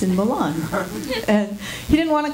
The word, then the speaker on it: Milan: You get to say it like that, Milan.